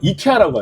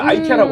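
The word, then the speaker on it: IKEA: 그니까 한국에서는 이케아라고 하는데 미국에서 아이아라고 합니다. 근데 정확하게 이게 노르웨이 쪽에서 온 브랜드인데 유럽에서나 노르웨에서는 이케어라고 발음을 합니다. 이게 미국에 와서 IK라고 하는 거고 이게 한국에선 이케하니까 뭐 이케아라고 하죠.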